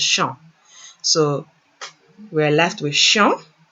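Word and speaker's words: chant: again the verb is shanti so when conjugating what do we do we drop the er and we're left with sean i apologize i pronounced it incorrectly before when it's c-h-a-n-t is just shown so we're left with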